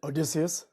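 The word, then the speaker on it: Odysseus: Justin Odysius.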